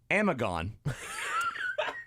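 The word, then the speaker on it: Amigone: funeral homes in buffalo called amigon funeral homes a m i g o n e all put together but it's amigon I looked it up it's pronounced amagon and it's somebody's last name no way no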